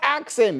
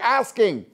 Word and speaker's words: asking: It's not axing. You're asking.